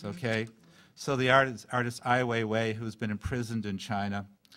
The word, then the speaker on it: Ai Weiwei: And a moment of irony, in Saturday's New York Times, and I'm going to pronounce his name wrong. Ai Weiwei. Ai Weiwei.